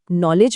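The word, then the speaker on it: knowledge: जैसे नॉलेज में के चुप बैठा है।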